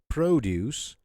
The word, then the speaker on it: produce: So produce, we're stressing the first part, okay? The first syllable. So produce is a noun. Produce is a verb because we're stressing the second part, juice part, okay?